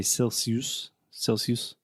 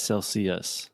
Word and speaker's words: Celsius: students I've heard say Celsius, but it's Celsius. With the schwa sound at the end.